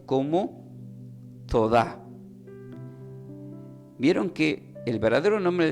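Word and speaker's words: תודה: Entonces del hebreo la palabra gracia se pronuncia como Todá, que tiene acento en la A, T-O-D-A, que indica también gracias, agradecimiento, pero hay un enfoque diferente en el hebreo.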